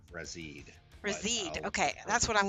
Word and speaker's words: Razide: thing being a creature, I've heard it as a Razide, a Razide, a Razide. For me, it's always been a Razide.